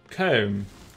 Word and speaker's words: comb: how you pronounce it how do you pronounce it word man calm calm cow comb comb that's not at all how you write it by the way see OMB comb comb comb Englishman it's so difficult okay it's most of